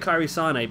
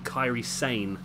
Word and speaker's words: Kairi Sane: I keep calling it Kairi Sane because I'm a football fan, and I know you've got Mane, you've got Sane, who plays for Man City as well. So I'm just pronouncing that based on the footballers. But I believe from watching the Mae Young Classic, her name's actually Kairi Sane.